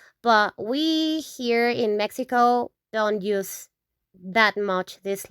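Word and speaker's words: México: Mexico, we pronounce that in Spanish, Mexico. Like H, Mexico, Mexico.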